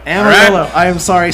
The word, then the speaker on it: Amarillo: taxes is that where you were born it's pronounced amarilla Amarillo I am sorry not whatever the hell you